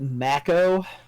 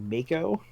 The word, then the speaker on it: Mako: the they call it Mac oh but everybody I ever talked to you called it Mako right because that's how you would pronounce that word in English so super [ __